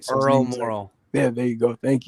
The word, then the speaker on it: Morrall: So Earl Morrall.